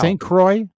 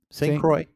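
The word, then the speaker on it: St. Croix: because we're hideous wow St Croy St cro say it St Croy yes yeah St Croy yeah because it's really c o iix I love how we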